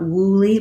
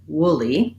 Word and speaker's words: woolly: this wool and woolly are one of the few words with o-o that don't say the u sound it's not wooly but rather wooly it's the vowel that we have in the word wood or this kind of wood good should push those vowels are all the uh sound and so in woolly